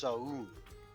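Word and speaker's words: Soun: so like noun, but with an S. Yes, but it's actually It's actually pronounced Saun.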